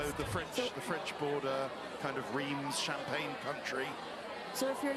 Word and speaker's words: Reims: So the French border, kind of Reims, Champagne country.